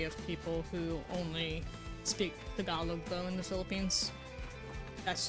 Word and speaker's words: Tagalog: Oh yeah, the proper pronunciation Activating for their combat language mode. is Tagalog. But they say Tagalog.